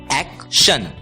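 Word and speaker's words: action: अगला शब्द देखते हैं शब्द है ए सी टी आई ओ एन टी आई ओ एन की आवाज होती है शन एसी की आवाज होती है एक इसलिए ए सी टी आई ओ एन का उच्चारण हो होगा एक्शन एक्शन दोस्तों जिस प्रकार टी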